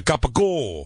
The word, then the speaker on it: capicola: You got to do the Italian. It's a capicola.